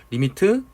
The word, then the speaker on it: lim: 만약에 x가 이제 2에 한없이 가까워지는 케이스를 식으로 뭐라고 표현을 하느냐, 이걸 리미트라고 읽어요. 리미트 x가 2에 가까워진다, 이런 형태로 표시를 하기로 해요.